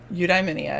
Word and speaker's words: Eudaimonia: That's the official pronunciation. He just said it. Eudaimonia, I got you.